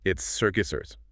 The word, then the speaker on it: circuitous: Looks tricky. It's circuitous. Circuitous. Stress on the second syllable. Q. 4 syllables there.